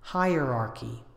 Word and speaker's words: hierarchy: anxious hierarchy hierarchy you can think of this as two words higher and archy hierarchy the adjective hierarchical hierarchical